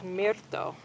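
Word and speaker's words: mirto: is salvia Greggy e in Spanish it's called myto m i r t o and this plant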